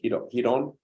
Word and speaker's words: Ryron: media my name r-y-r-o-n the r is pronounced as an H so hidon and then Gracie g-r-a-c-i-e